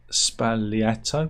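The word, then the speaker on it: Sbagliato: French isn't it um Negroni spaglietto is pronounced spaliato which I which I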